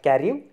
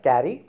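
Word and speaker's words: Carew: as a lovelies and thomas carey not caring it's a thomas thomas carrie and sir john circling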